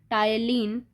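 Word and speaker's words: ptyalin: याद रखना बच्चों, ये पी जो है साइलेंट है, टाइलिन, इसकी स्पेलिंग कुछ ऐसी रहेगी।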